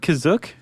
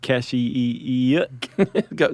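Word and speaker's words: Kashyyyk: Planet CA is that how you say it kazook that's how it's pronounced in the episod the holiday special but it's also pronounced different ways other times I would have pronounced it Cash go spell it k a s h y y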